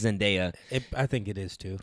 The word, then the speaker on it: Zendaya: How you pronounce her name? Mary Jane Watson. Yeah, the actors. I think it's Zendaya.